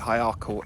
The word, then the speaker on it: Ercall: So Ercall, or Ercall, however you want to say it, Ercall is the correct pronunciation, I think.